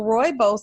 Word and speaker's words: rooibos: you can have and it's Roo ibos and it's pronounced like rooibos and i drink a